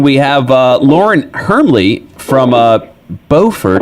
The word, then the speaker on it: Beaufort: the website right now Beaufort pirate invasion dot-com it's it's spelled like Beaufort but they're too highfalutin they call it Beaufort up there how you